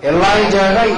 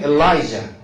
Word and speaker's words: Elijah: 엘리야가 엘리야의 엘리야. 이 J 발음이 J 발음이 이 예루살렘 중동지방 이쪽으로 가면 이제 독일어도 거의 비슷하게 발음이 되는데 이하 발음이 엘리야 거긴 그렇게 얘기하고 영어식으로 하면 엘라이자 다 같이 엘라이자 그러는데 엘리사 또 있지 엘리사